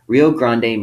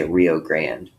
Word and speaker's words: Rio Grande: rio grande all right rio grande means big river in spanish okay we oftentimes say rio grande all right but in spanish it's rio grande remember that the river